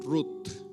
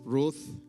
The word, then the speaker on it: Ruth: En hebreo se pronuncia así como en español, rut con con la tí rut, pero en inglés es bueno, depende donde esté, es Ruth. Aquí en el sur es R. Amén.